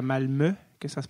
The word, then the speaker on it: Malmö: Il était dans le sud, à Malmö, que ça se prononce, même ça s'écrit Malmö.